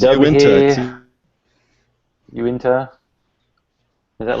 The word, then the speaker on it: Uinta: So we have this is the, I can't even pronounce it. Yeah, neither can I. Uinta. It's Uinta.